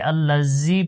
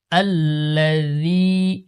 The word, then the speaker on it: الذي: আলিফ টানবো الذي ذي অনেকে আল্লাজি পড়ে জি এখানে জাল রয়েছে দেখতে পাচ্ছেন জালের উচ্চারণ নরম হালকা الذي ذي নরম করে الذي